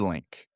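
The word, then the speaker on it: Lynk: And the tech stack is Builder Link.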